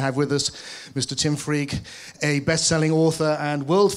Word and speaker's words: Freke: thank you hello so my name really is pronounced freak and if you can